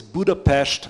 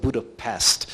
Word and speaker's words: Budapest: We are a NATO member, and the capital of Hungary is Budapest, as we correctly pronounce it, and not Budapest. So Budapest, and we've got beautiful